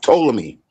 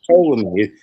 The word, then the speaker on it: Ptolemy: It's pronounced Ptolemy. Salakia. You see the P, but it's called Ptolemy. The P is silent.